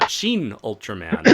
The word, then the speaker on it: Shin Ultraman: number four thoughts on shin ultraman xin ultraman yeah that's how you're supposed to pronounce it ah I think cuz